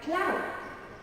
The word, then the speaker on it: cloud: Normally C is pronounced as a K sound when it's followed by a L, as in climb, as we said. Now it's a K, not a S anymore, and cloud.